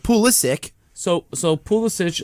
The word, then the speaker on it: Pulisic: you gonna pronounce it it's pulisic to all the Americans yeah but on all the Chelsea YouTube videos yeah exactly pool Stitch is how that's how you say it so but for some